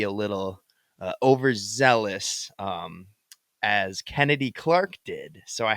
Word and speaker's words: Chennedy: up Kennedy Carter and that's Kennedy Carter with an H not chennedy it's pronounced Kennedy um but Kennedy checked